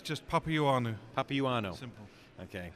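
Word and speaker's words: Papaioannou: It's just Papianu. Papianu. Simple. Okay, butchered that one.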